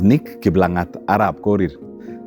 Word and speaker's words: Nick Kiblangat Arab Korir: The full name is Nick Kiblangat Arab Korir. That's how you say it.